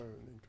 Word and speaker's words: NEINKH: Il est l'inventeur d'une application dénommée Nink. C'est quoi? J'espère que je prononce bien. Nink. Ouais, Nink.